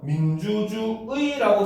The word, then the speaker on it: 민주주의: 자, 그런데 이제 자, 둘째 이하의 음절에 오는 경우가 있죠. 이때는 뭐야? 이로 발음하는 것도 허용을 한다는 겁니다. 즉, 이 경우는 바로 뭐다? 의 또는 이 둘 다 허용을 한다는 거죠. 그래서 민주주의라고 쓰지만 이거를 민주주의라고 해도 되고 민주주의라고 해도 올바른 표준 발음이 되는 겁니다.